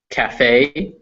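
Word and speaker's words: café: in starve or discipline however some french or greek words in english will pronounce that e so recipe is a french word cafe also a french word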